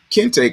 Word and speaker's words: kente: teaching our children that a kente cloth is pronounced Kenny, a Kenny cloth, you know, which is all kind of wrong, you know, all it's just all kind of wrong.